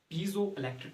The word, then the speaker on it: piezoelectric: Okay, but the proper pronunciation is piezoelectric effect.